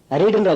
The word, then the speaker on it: read: அப்புறம் இன்னொன்னு, ரீட்ன்ற வார்த்தையை பாருங்க. இத ரீட், ரெட், ரெட்னு உச்சரிக்கணும். உச்சரிப்பு ரெட் ரெட்னு வரும், ஆனா ஸ்பெல்லிங் READ தான்.